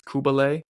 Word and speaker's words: Cybele: the cult of and if you look at it in English, it looks like Sybil, but in Greek it's Kubale, which I think is a lot cooler of a name.